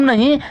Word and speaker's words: know: उसी प्रकार KNOW आप लिखते हैं, यहाँ पर के साइलेंट रहता है, नो पढ़ते हैं उसी तरह केनो पढ़ते हैं बच्चों, नहीं नो पढ़ते हैं, उसी तरह मी साइलेंट रहेगा।